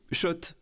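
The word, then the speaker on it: Schott: Oui, Shot et pas Scott. Ça fait des années qu'on prononce mal la marque.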